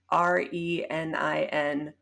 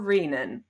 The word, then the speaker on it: renin: have all right okay is the correct pronunciation of the word re n i n renin or reenan renan I think based on my understanding but I'm not sure you cannot CW me on that because I'm from Taiwan I think people pronounce it both ways all of the time I don't think there is a correct way yeah I prefer the first one the first one